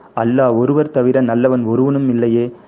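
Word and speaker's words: إله: வந்து அல்லாஹ், இன்னொன்று வந்து இல்லா. அல்லான்றது வந்து எப்போ ப்ரொனவுன்ஸ் பண்ணுவாங்கன்னா, டெஃபினட் ஆர்டிகல்ஸோடு சேர்த்து ப்ரொனவுன்ஸ் பண்ணுறதா இருந்தால் அல்லான்னு ப்ரொனவுன்ஸ் பண்ணுவாங்க, டெஃபினட் ஆர்டிகல்ஸ் இல்லாமல் ப்ரொனவுன்ஸ் பண்ணுறதா இருந்தால் இல்லான்றது ப்ரொனவுன்ஸ் பண்ணுவாங்க.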